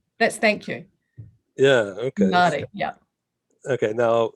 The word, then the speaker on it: Māori: So is that Maori? Māori. Yeah. Maori. Māori language.